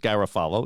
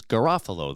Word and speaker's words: Garofalo: the same spelling, and they pronounce it Garofalo in town, but the pronunciation here is Garofalo. That's the correct Italian pronunciation, and Ron's father, John, turned 97 the other day on June 15th.